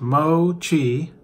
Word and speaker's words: mochi: Mei maida in and then it says mochi pronounced mochi is a japanese-style dough made of powder pounded